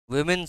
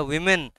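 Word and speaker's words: women: college আছে কি নাম উইমেন্স কলেজ কথাটা ওমেন নয় উচ্চারণটা ওমেন নয় উচ্চারণটা উইমেন ওমেন মানে ওমেন বানানো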